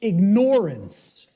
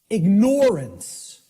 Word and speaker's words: ignorance: the way it's pronounced I tell people start pronouncing it ignorance ignorance then people will hear the word ignore in it and and the connotation